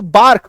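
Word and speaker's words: bark: तो बार्क, बचपन से बार्क आप बोलते हैं, बट एक्चुअली में इसका ए का जो ए और आर जो है मिल करके सिर्फ और सिर्फ आ बन जाता है, आकार की मात्रा र गायब हो जाता है।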